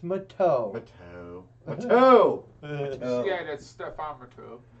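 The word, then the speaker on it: Matteau: With Gerby, and with his 6th assist, and Mateo with his, No, you say his name right, it's Mateo.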